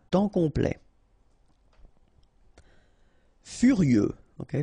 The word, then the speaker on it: furieux: Furieux, okay, final X not pronounced, furieux, furieux.